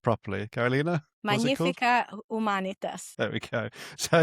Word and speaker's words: Magnifica Humanitas: And because we have an Italian with us, it's going to be pronounced properly. Carolina? Magnifica Humanitas.